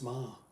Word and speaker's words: Meagher: He's the head, he's the grand dragon of the Ku Klux Klan, Judge Meagher. Pronounce Ma.